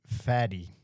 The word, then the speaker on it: Fadi: I have always called you Fatty, but others call you fatty. What would you prefer? The correct pronunciation is fatty.